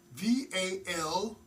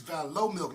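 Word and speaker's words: Valomilk: V-A-L-O-R. No R. It's Valo milk, not Valor. Valor would be like, but Valo milk.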